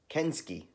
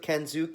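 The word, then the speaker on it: Kensuke: pronounces Ken's ooks name kenski I it's not how it looks it's not how I would pronounce it and that's why I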